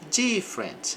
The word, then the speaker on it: different: Então, gosto de aprender sobre about, different. Aqui o e antes do R desaparece.